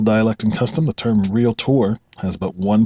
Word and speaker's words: Realtor: can custom the term real tour has but one pronunciation that's real tour that's two syllables industry professionals pronounce it correctly take a look at